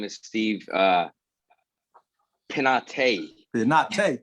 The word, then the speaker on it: Pineda: Pineda, thank you. Is how you say my last name.